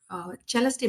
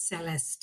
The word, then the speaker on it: Celeste: Our Celeste, because we are an Italian-based company, really it is Celeste in English, by the way. Yeah. So it's a Italian pronunciation.